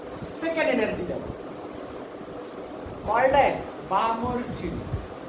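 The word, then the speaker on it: Balmer: अब बामर सीरीज को हम L साइलेंट है, बाल्मर सीरीज नहीं, बामर सीरीज।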